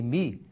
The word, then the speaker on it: mi: Mi é uma letra grega, pronuncia-se mi.